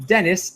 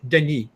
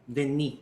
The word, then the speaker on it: Denis: So in French, the name Dennis is Denis. Denis.